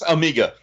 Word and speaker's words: Amiga: I don't know yes Amiga yes yeah so some of those guys pronounced it a Maga and I was like I don't think that's right but okay I'll be